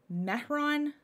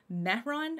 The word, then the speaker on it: Mehron: have this is the metron metron no there's no t in that mehron or miron sorry i